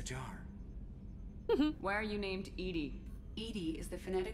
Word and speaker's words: EDI: airlock is a jar why are you named Edie Ed is the pronunciation of e d i that is acon